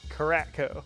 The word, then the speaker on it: Karatko: Like, everybody calls him, but it's phonetically pronounced just like it's spelled. Karatko.